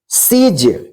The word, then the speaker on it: siege: एक साथ है, तो इसको क्या पढ़ेंगे, इसका उच्चारण ई होगा, तो इसको क्या पढ़ेंगे, brief. BRIEF, brief. SIEGE, सीज।